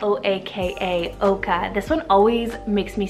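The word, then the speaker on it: Oaka: Then we have Oka, spelled O-A-K-A, Oka.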